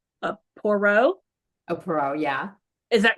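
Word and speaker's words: Poirot: was a I'm gonna say it wrong a poro AO yeah is that right did I say it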